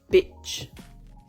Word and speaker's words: bitch: Celui qui est un peu plus complexe pour nous, c'est celui-là, le court, bitch.